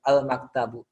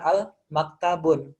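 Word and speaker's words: الْمَكْتَبُ: Di sini ada alif lam di depan ya, al maktabu ya. Makanya kita bacanya bukan al maktabun ya. Jadi kalau misalkan di situ ada alif lam ya, itu mesti yang di belakangnya kita nggak pakai yang namanya tanwin. Ya.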